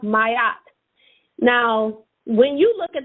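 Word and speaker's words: Ma'at: a t m a apostrophe a t is pronounced mayat now when you look at the bottom of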